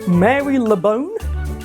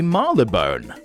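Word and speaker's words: Marylebone: What about this word? Mary Leone. What is that? A French lady skeleton? That's actually How the do you even pronounce that? That's actually Marle Bone.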